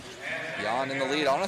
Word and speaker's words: Jan: Um, one of my favorite fighters is named Yan Blahovich and he's from the same area and it's spelled Jan.